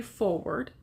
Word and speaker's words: foreword: This book does have a foreword, which means it's spelled like forward, but they're two words together.